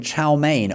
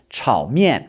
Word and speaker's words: chow mein: but pronounce with their correct tones and correct pronunciation. For example, you may have been ordering chow mein all this time in Chinese restaurants, but it's actually supposed to be pronounced chow mein.